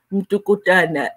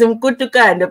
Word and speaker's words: Mkutukana: a video about Zahara, and they pronounced the surname Mtukutana, and I was like, yo, I'm glad I'm not the only one, because I always mix it up as well. It's Mkutukana, but sometimes you just